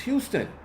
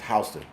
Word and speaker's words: Houston Street: It's Houston. It's Houston Street. But the people here pronounce it as Hston.